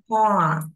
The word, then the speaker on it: Paul: AU này con đọc là O. Paul, Paul sẽ.